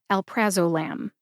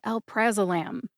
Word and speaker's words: alprazolam: Alprazolam let me do it for you slowly Alprazolam Alprazolam either way is technically correct don't overthink this one just say Alprazolam next let's go over the pronunciation of Xanax